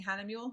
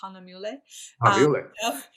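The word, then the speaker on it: Hahnemühle: hannah mulley oh yeah and i learned to pronounce it correctly i was always saying hannah mule it's hanamule it's a friend of mine esteban yeah yeah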